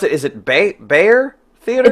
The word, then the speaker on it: Bexar: So Bear County is the county that San Antonio sits in. And it comes from General Behar. Okay. So it's the colloquialization becomes Bear. Gotcha. So Bear people in County, San Antonio know how to pronounce your theater. People in San Antonio know how to pronounce it. People anywhere outside of San Antonio say Bexar.